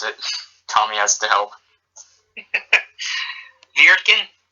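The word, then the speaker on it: Wirtgen: Viertgen? Yes. Just replace the W with a V, and yeah.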